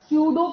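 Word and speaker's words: pseudo: सूडो population P एस ई यू डी पी ओ पी नहीं सूडो population की spelling यही होती है ना सूडो पपुलेशन वापस लिख रही हूं पी से ही शुरू होती है पी साइलेंट है यहां पे सूडो कपुलेशन सूडोपुलेशन ठीक है?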